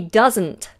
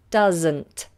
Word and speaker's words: doesn't: she doesn't does and it's a Zed sound she doesn't normally stream on a Sunday he doesn't like eating sprouts doesn't doesn't doesn't alright okay